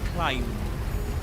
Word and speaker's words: climb: You can climb. You don't pronounce the B at the end. You say climb.